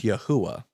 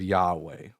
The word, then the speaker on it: Yahweh: So, how do we get how did some people get the name Yahwh? um instead of Yahweh.